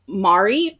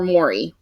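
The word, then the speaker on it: Mairi: Becomes best friends with Rhiannon Matthias and Liam Mari or Maury. I don't know. Mari. Okay. Said it Mari in the audiobook. It's spelled similar to native New Zealanders.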